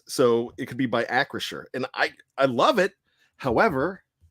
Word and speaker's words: Acrisure: Danny Don Hawker, I hope I pronounced that right, asked how it's pronounced, and it's Acrisure. We're pretty sure it's Acrisure.